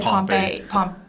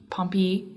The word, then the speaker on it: Pompey: The Latin is like Pompeius, I said but in Pompey, English it and just then turns into he said Pompey. Pompey.